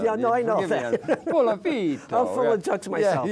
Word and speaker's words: Puliafito: Puliafito. Puliafito.